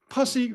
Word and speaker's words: pussy: The Post, I wasn't working at the Post yet, but they went with pussy rhymes with fussy in parentheses.